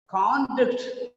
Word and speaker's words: conduct: Conduct of the boy is a noun here. Conduct of the boy. Conducting, conduct. Okay. Whenever it is performing as a verb, normally the second syllable is stressed.